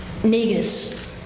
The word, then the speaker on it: Negus: Negus.